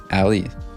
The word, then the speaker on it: Ali: Wait, Ali. Like it's A-L-L-E-Y. Basically. Ali. Like 2 syllables.